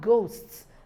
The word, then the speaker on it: ghosts: cheetah no it's not then we have ghosts the ghosts we have H at the point of spelling but at the point of pronunciation the h letter H is silent we have R our